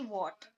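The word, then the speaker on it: what: WH अगर कहीं पर भी होगा तो आपको H को नहीं पढ़ना होता, सिर्फ हम W को पढ़ते हैं, जैसे कि वॉट। तो यहाँ पर H साइलेंट है, ठीक है।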